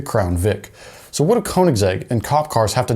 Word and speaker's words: Koenigsegg: ridiculously hard to spell and ridiculously hard to pronounce name and that's Koenigsegg but do you know what the American response